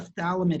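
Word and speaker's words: phthalimide: just say thalam it you don't pronounce the pH so this is a Thal limit anion and there's a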